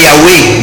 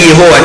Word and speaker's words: Yahweh: Donc le nom de Yahweh, quand vous lisez dans les Bibles françaises, eza effectivement Yahweh ndengewana, ezali Yehowa te, eza Jéhovah te, Yoshua Mashiach.